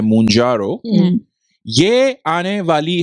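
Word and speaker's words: Mounjaro: जिसका नाम है मंजारो आई थिंक ऐसे प्रोनाउंस करते हैं मंजारो यह आने वाली है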